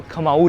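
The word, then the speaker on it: Khmer: Cambodia भी Hinduism का empire था जिसको बोलते थे खमाऊ रीजन। इसको खमीर लिखते हैं और वैसे बोलते हैं खमाऊ रीजन।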